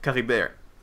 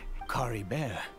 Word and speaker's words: Kaeya: Kaeya, that's what Kaeya. He pronounced it very French.